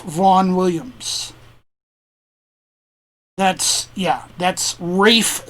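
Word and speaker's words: Ralph: uh the composer i believe his name is pronounced roland h prichard and the arrangement was done by uh british composer uh rafe vaughn williams that's yeah that's rafe spelled r-a-l-p-h he was very insistent on that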